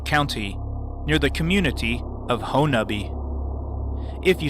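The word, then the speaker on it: Honobia: Oklahoma in Leflore County near the community of hone uh be if you sound out how it is spelled it would sound like PO no BIA but the local pronunciation is pono B on my first expedition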